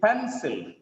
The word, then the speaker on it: pencil: To read this, we need to read pencil. Pencil, not just pencil. It is pencil. The stress is on first syllable.